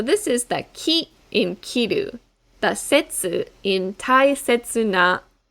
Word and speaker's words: 切: in kitte or kippu this kanji can also be read setsu and we will find